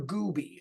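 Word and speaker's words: Gouby: was one of Trevor Gooby I will spell that for you it is gou b y Gooby um who was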